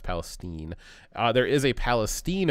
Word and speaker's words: Palestine: Palestine because there is a Palestine it's not Palestine it's pronounced Palestine uh there is a Palestine Ohio which is